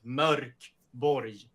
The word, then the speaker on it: Mörkborg: And the O with dots is not an O, it's pronounced Ö. So it's Mörkborg.